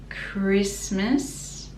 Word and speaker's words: Christmas: with every christmas card christmas again t is silent and miss is with